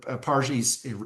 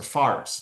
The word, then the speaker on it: Fars: where many of the Parsis, Zoroastrians came from, the Iranian province of Pars, or Fars, depends on how you pronounce it.